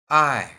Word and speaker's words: 爱: I, Watch my pronunciation.